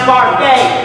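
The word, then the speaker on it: William Barfée: season's travis says that william garfield is pronounced barfey there's an action of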